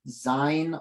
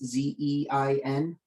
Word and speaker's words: zein: Does the Magna protein masker have a version specialized for, I apologize for the pronunciation, Zein off notes, Z-E-I-N?